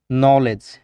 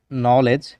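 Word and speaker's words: knowledge: নলেজ জ্ঞান, নলেজ জ্ঞান। কে কিন্তু উচ্চারণ হচ্ছে না, খেয়াল করেছেন?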